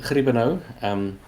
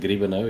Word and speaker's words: Griebenow: Okay, so I'm Griebenow. Most people don't say the G's that pronounced, so Griebenow if you want to say it in kind of an English accent.